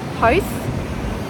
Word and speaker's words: Howth: It is our first hike here and we've come to the town of Howth, I think is how you pronounce it.